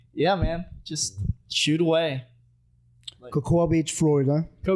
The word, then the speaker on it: Cocoa: so I mean yeah man just shoot away Cocoa Beach Florida it's spelled like that so cool it is spelled